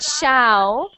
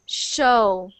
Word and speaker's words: show: one one sha so that is not sha it is show oh okay show show